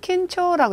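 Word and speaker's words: 緊張: 자, 긴장은 킨초라고 읽어주시고요.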